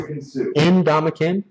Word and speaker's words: Ndamukong: No, do it syllable by syllable. I'm not saying it looks right. No. But it's Ndamukong.